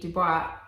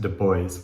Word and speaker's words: Du Bois: And I think it is pronounced Du Bois. Oh, not, which I know the proper French way of saying it would be Du Bois, but Okay. but yeah, apparently he actually pronounced it Du Bois, Okay.